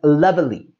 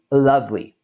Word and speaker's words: lovely: If we take a look, it has this extra E in the word. And there is a common tendency to pronounce this as lovely.